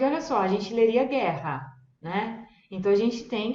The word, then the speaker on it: guerra: Então, uma vez que a gente aprende esses sons, a pronúncia fica muito fácil, gente, tá? Então, vamos lá. O exemplo do gue vai ser guerra, guerra.